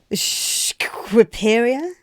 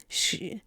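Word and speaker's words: Shqipëria: Squiperia? Shquiperia. Let's spell it out here.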